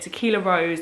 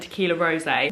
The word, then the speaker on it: Tequila Rose: I'm just going to premise this by saying that I go between calling it Tequila Rose and Tequila Rosé. The correct pronunciation is Tequila Rose, but it's so ingrained